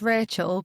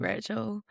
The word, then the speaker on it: Rachelle: So, it's Rachel, but it is spelled like Relle cuz like me mom's got this whole explanation that's very long, but yeah, it's pronounced like Rachel.